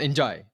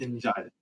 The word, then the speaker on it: Ndiaye: Well, okay, so I slipped into the mistake of saying and die because that's what all the content creators say. But there was a video recorded by all the players on how to pronounce the names, and he says very enthusiastically Iliman Njai with that speed.